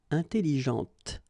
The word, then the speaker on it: intelligente: with an adjective, okay, intelligente. Same thing here. When you put this well, actually you will pronounce the final T, okay, but you don't pronounce this here.